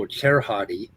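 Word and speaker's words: Cserháti: his bio says that dr cerati pronounced o cherhati came to christ after high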